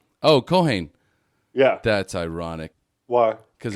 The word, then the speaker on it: Keohane: pronounce your last name coane oh Caine yeah that's ironic why because it rhymes with cocaine oh yeah that's the